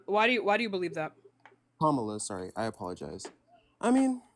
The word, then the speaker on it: Kamala: would have been with Kamala. But like, That's not how you say her name. But why do you believe that? Kamala, sorry, I apologize.